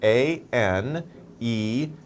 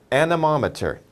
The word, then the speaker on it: anemometer: Well, let's spell it out here. A-N-E-M-O-M-E-T-E-R. And then anemometer, anemometer, anemometer.